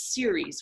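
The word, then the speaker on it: Ceres: were talking about in the last two sessions series which is spelled c e ar e s is the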